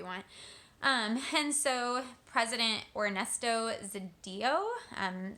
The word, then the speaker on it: Zedillo: And so President Ernesto Zedillo, Zedillo, I believe is how you say his last name. It's Zedillo.